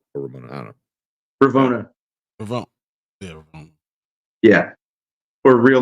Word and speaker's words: Ravonna: Ramona. Ramona. Yeah. Or Ramona. I don't know. Ravonna.